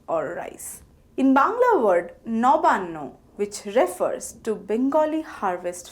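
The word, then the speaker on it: নবান্ন: For example, onno is pronounced as on no and nobanno is pronounced as noban no.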